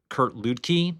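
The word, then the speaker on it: Kurt Luedtke: preface it by talking about the writer Kurt Kurt Ludkkey, that's how you pronounce it.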